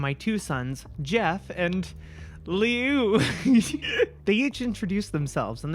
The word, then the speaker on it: Liu: L-I-U. How do you pronounce that? Liu. Okay, Liu.